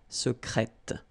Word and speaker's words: secrète: Okay, so I tend to insist a little bit on it just to make you hear the difference between the masculine. Secret, secrète. Okay, you're pronouncing the T.